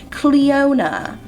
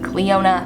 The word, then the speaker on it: Cleona: So the first brand I want to talk about is Cleona, which I've been told is how you say it.